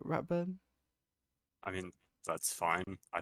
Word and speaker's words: Ratburntro44: people say my name I guess R burn TR 44 would be the fully correct pronunciation people other places just call me people in this community I guess say which I guess is because that's just what nixel happen to say first probably oh okay so